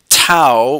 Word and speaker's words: tau: found by this formula tau which is a Greek letter it rhymes with now anyway it's for torque